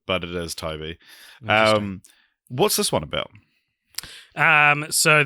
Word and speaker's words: Tobe: So it is Toby. It is Toby, yeah. Because it's spelt Tobe. Yeah. I always say in my head Tobe, but it is Toby.